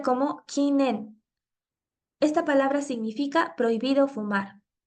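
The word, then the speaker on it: 禁煙: kanji que significa prohibición pasa a pronunciarse completamente en su lectura china que es en y de esta manera se compone la palabra kinen prohibido fumar esto eh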